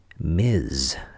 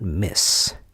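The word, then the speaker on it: Ms.: I didn't know this either until I went to law school, but MS period is pronounced Mizz, not Miss. MISS is Miss. MS period is Mizz.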